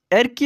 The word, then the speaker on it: এরকি: এরকি এটি হচ্ছে ইয়ারকি শব্দের আঞ্চলিক উচ্চারণ।